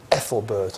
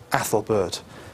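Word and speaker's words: Æthelberht: e put together okay usually pronounced a as a short but sometimes turned into an e so you might see this name as Ethelbert as well but we'll pronounce it Ethelbert here okay and his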